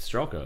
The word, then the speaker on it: Streklo: I mean, you got the Streklo, Strelko. The L comes before the K.